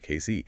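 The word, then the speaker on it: Cayce: That's pronounced Casey, right? Exactly. Casey.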